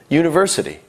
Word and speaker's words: university: again that's an hour university starts with a u a vowel however it sounds like it starts with a why ye university however when we write it